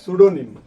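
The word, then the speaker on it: pseudonym: ওহেনরি এটা হচ্ছে ছদ্দনাম ছদ্দনামকে ইংলিশে কি বলে সুডোনিম কি বলেনি পি দিয়ে বানানটা শুরু যেমন সাইকোলজি পি দিয়ে শুরু এসই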